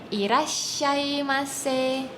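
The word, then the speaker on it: いらっしゃいませ: Jadi itu bacanya adalah irashaimase. Irashaimase.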